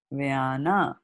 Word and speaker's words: vyana: these words so correctly, because she read it as Sanskrit is read, right? And in Sanskrit, what happens in Sanskrit? Pran, Prana, pan. apana, vyana, samana, and udana.